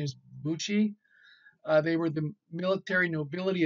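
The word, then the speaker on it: bushi: both ways probably the pronounce the the correct pronunciation is Buchi they were the military nobility of medieval and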